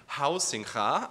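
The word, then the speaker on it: Huizinga: One of the rediscovered father figures of recent game studies, by the way, is Johan Hausingha. I learned how to pronounce it correctly.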